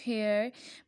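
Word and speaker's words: heir: Next वो क्या कह रहे हैं, it will be noticed that the words horror, honest, हेयर begin with the wall sounds as the initial as इज़ not pronounced.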